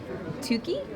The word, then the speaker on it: Tuki: I'm with Mike with Plan B Games, and we're taking a quick look at Tuki. Is that how it's pronounced?